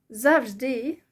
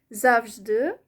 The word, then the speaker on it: завжди: зAвждИ means always in Ukrainian, if I put stress on the first syllable. And if I pronounce it зAвждИ with the stress on the E, it also means always.